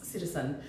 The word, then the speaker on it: CTZN: vintage has a new brand ctzn which I think I meant to pronounce citizen which has launched two